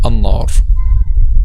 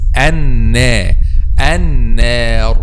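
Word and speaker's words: النار: So some native Arabic speakers, I listen to them saying an-nar. Yes. So, but the correct pronunciation is an-nar. Why it's an-nar? Because simply letter nun is light, so the Alif comes after letter nun is also light.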